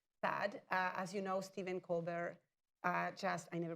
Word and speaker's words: Colbert: As you know, Stephen Colbert, I never pronounced that correctly.